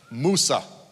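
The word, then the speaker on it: موسى: almonds how do you say Moses in Arabic Moosa Moosa okay so go ahead and listen to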